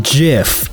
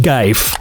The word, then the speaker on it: GIF: spell my god gif it's pronounced jif no it's clearly pronounced geife in a zombie apocalypse